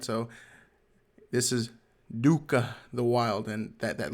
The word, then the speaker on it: Doka: right so this is Dua the Wild and that that little o has a little Aon on top I figure what they're called but it's pronounced like an ooh sound so it's Dua the wild he is